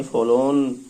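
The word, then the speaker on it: forlorn: हो जाता है स्टूडेंट आर साइलेंट हो जाता है आर को बोला नहीं जाता इसलिए इसे फॉलोऑन प्रोनाउंस किया जाएगा एक आदमी बैंक के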